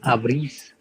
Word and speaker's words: abrís: So whenever there is an accent on any of the vowels, you need to stress there. So the pronunciation will be abrís.